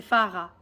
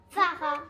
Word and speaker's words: Farah: Et le H, on ne le prononce pas. C'est Farah. Farah.